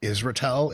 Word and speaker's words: Israetel: The real answer is like it depends on if you're pronouncing it, and it's like a make-believe Israeli name that was given to a Russian-born person, but now it's in America. So Israetel is totally great.